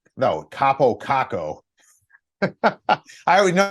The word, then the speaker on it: Kakko: I actually think that these types of things will help these players, Kakko and Laugh, long term, because now they're basically